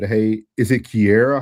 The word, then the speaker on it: Kira: She said, hey, is it Kiera, how you say it, or Kara? Kira.